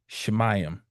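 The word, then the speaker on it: שמים: Then we would look towards the Hebrew for heaven which would be Shmayam.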